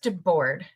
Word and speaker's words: Debord: Um, so Chris Chris now it is pronounced de board correct.